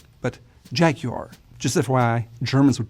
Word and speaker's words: Jaguar: But in England, it's called Jaguar. So the U is much more pronounced and the R is very soft. So it's not Jaguar, but Jaguar.